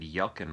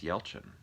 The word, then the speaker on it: Yelchin: I always said Yelkin, but it's Yelchin, right? If I remember correctly, that's the correct way to say it.